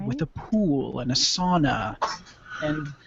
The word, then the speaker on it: sauna: Plaza something classy with a pool and a sauna and like massage service without the happy ending Brad that clear you're in northern Wisconsin it's pronounced SAA oh God don't don't don't have Amy Frost